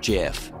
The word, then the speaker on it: GIF: over and over that it's actually pronounced jiff Nietzsche touched on this